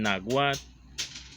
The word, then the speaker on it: náhuatl: El náhuatl, con H antes de la U y TIL después de la antepenúltima sílaba, que la dice así: conocido también con el